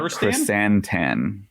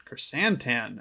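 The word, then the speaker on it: Krrsantan: It's Black Chrysantan. Chrysantan.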